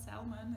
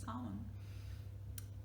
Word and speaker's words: salmon: Right, it's not salmon, it's salmon.